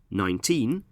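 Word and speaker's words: nineteen: In 19, we stress the second syllable, teen, and in 90, we stress the first syllable, 9.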